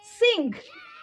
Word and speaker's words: sing: জি ই নেই কিন্তু ভালো করে দেখো আই টা কিন্তু শর্ট ভাওয়েল মিলে গেল অংক কিন্তু যেহেতু লাস্টে ই নেই ই নেই তাই সিং এর উচ্চারণ কিন্তু এরকম হচ্ছে গ হচ্ছে লজ ব্যাজ